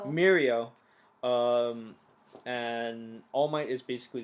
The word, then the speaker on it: Mirio: Anyway, so as you just mentioned, like the other half of the episode is basically Deku with Minero. Did I say it right? Mirio.